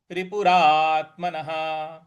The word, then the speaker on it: रिपुरात्मनः: और न के बाद जो विसर्ग है, तो इसके आगे कोई अगला अक्षर नहीं है, इस वजह से इस विसर्ग को ह के उच्चारण में लाएंगे। तो ये बनेगा बंधुरात्मैव रिपुरात्मनः, बंधुरात्मैव रिपुरात्मनः।